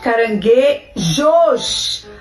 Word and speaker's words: caranguejo: Caranguejo não é com I.